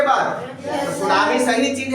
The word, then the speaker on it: सुनामी: एम I very good T एस यू एन ए एम आई सुनामी लेकिन टी क्या है silent होता है ठीक है ना सी